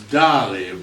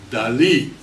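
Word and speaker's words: Dalí: You know, in America we pronounce Dali, but Dali was emphatic about that emphasis on his last letter, I. So this is how he signed his name, Dali.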